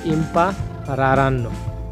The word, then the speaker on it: impareranno: আরে ভাই কঠিন রে, মারাত্মক কঠিন, এগুলা উচ্চারণ করা যাইতেছে না এগুলা, কারণ ডাবল আর আছে, ডাবল এর, তাই এখানে বলা হয় loro impareranno, তারা শিখবে।